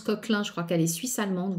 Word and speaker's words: Coquelin: Ça se prononce Coquelin, je crois qu'elle est suisse-allemande ou quelque chose comme ça.